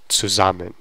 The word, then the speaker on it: zusammen: And this is actually a preposition, zu, and that's why you're going to have the articulation or the stress on this part of the word, because this is like not really part of the word if pronunciation wise.